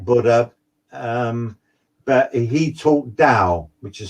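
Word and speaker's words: Tao: um but he talked dao which is spelt t-a-o the t is silent and and the dao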